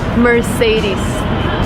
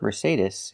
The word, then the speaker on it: Mercedes: do not say Mercedes the last vowel is not I like milk and this is It's the long e like green beans we say Mercedes Mercedes the final sound is not s like Star it's Z like zebra Mercedes Mercedes put the stress